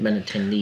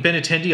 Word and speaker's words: Benintendi: Benintendi.